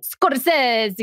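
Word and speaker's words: Scorsese: Scorcese. How do you pronounce it, Katherine? Scorcese.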